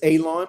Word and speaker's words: Alon: Miss Paka, um, you already know my name is Alon, pronounced like you're going to cut grass, like you're going to cut a lawn. It's not spelled that way, but it is pronounced that way.